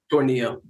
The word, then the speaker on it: Tornillo: How do you pronounce it, first off? Is it Tornillo or Tornillo? Tornillo.